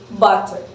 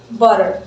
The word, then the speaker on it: butter: Now, if you have more of a British English pronunciation, you probably just say butter and pronounce a full T sound, which is, of course, plosives to the sounds. However, Americans very often say butter. So it's instead of a full T, they just do a little flat T tap.